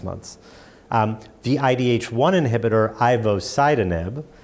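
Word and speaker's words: ivosidenib: months the idh1 inhibitor Ivo site anub pronounced differently than an acid nib Ivo sidon in that drug is now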